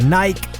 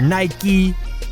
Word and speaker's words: Nike: your own legacy so there it is the Nike or Nike both pronunciations are correct a commercial opportunity here